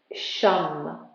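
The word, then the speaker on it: shan: like to use is shum it's it's written as s-h-a-n and pronounced as s-h-u-m it's simple and you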